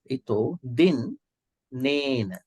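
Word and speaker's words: dinnena: But now there are two N's. You can see here. So there's two Dinena. You can go this way. Let me show you something. Maybe you can pronounce this way. Ito din nena.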